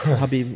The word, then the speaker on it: Khabib: Like, this fight, this is like even though he's considered the underdog, would you say Khabib? Is that how you pronounce it? Habib, yeah. Habib.